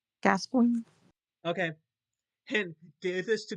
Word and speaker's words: Gascoigne: And you say it's like, See, I just wanted to point out, Google says it's pronounced Gascoigne. Gascoigne? Gascoigne.